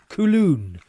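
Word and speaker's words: Köln: Sean says, Cologne is pronounced close to Coulon.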